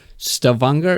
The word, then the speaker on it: Stavanger: you of course are veda brim fan from stavanger is this how you pronounce it yes stephanie norway uh so um